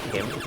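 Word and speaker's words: Kym: My first manager when I was working for Aldi, her name was Kim, but it's spelled K-Y-M.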